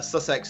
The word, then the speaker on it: Sussex: situation pronounced - sex - sex yes it's pronounced much sex all - sex it debate to say Sussex but Sussex is the correct way of saying I'm just